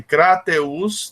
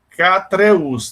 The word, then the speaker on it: Crateús: interessante de pronúncias coisa você tem a cidade de Crateús né mas muita gente diz k treas deve trocando o gado